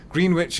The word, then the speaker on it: Greenwich: Sorry, I should pronounce it correctly. Greenwich in London, England.